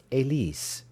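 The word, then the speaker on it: Élise: dear Alfred she laughed how do you say it in French Eliza I told her and she repeated the name with great contempt Elise go on she said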